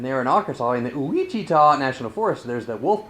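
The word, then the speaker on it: Ouachita: mina arkansas to the uichita national forest and you have to say it that way because it's some kind of indian word and that's how they spell it so it's luigi ta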